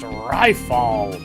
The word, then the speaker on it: Riffle: A name is pronounced Rifle. Rifle. It's not that difficult.